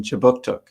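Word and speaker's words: Kjipuktuk: newcomer services conducts business in chibuktuk which is how you say halifax in the mi'kmaq language this city is part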